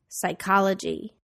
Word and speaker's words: psychology: silent n Autumn condemn the silent P psychology receipt the silent W